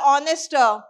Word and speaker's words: honest: So, here H is silent. So, we are using an as the article, which is indefinite article. So, what is that we should not do? My teacher is an honest woman is the wrong usage.